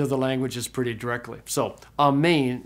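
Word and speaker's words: ἀμήν: languages pretty directly so amain is how you say Amen in Greek okay very good that's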